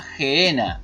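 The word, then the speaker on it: Γέεννα: hinom Gen jinon y en el griego se pronuncia genena en el español es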